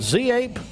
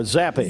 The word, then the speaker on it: Z-Ape: Is it Z-Ape or Zappy? Zape.